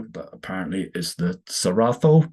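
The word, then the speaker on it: Cerrado: the Amazon as the serado but apparently is the saratho I believe is a Brazilian Portuguese pronunciation of it so it's not rainforest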